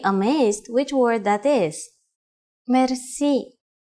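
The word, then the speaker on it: мерси: which word that is merci merci merci is a long word from French but it is pronounced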